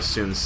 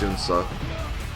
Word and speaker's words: Sun Ce: Passes down to Sun Ce, or I think it's supposed to be pronounced Sunsa.